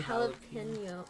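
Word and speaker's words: jalapeño: So the first one's Cheetos cheesy Cheesy jalapeno. How do you say I say jalapeno. Jalapeno, like Filipino.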